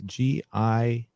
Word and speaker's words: Gimli: i know i do not know how to pronounce this g-i-m-l-i gimli gimli yeah gimli okay okay yeah and